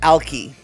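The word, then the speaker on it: Alki: Uh, the way you're supposed to say it is, uh, ali, right? Um, but ali sounds remarkably like he's an alcoholic. He's an ali, right?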